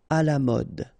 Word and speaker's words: à la mode: not pronounced passionnant cher à la mode final e not pronounc à la mode rapide final pronounc rapide